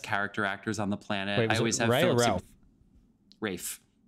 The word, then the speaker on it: Ralph: actors on the planet Rafe Freddie does the silent L he does the rafe cool right fine I did not know that it was Ralph fianus and my from